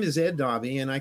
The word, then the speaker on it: Daube: Actually, it's Daube. Daube.